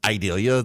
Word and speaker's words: Idalia: I guess it's pronounced Idalia, like Vidalia, but Idalia.